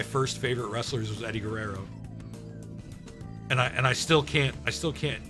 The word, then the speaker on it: Guerrero: Don't say Guerrero, say Guerrero. It's like, I don't know, man. I gotta use the R's, the Guerrero.